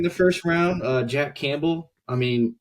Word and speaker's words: Campbell: first round uh Jack Campbell I mean his name rhymes with gamble so maybe that's why